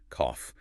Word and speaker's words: cough: Like, how does G and H become an F? It is the ghost of old Germanic pronunciation. Today, you just have to memorize the physical feeling. Cough.